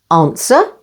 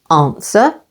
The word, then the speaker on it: answer: And with S or T in these words. Answer, stress on the first syllable. Answer. Sword.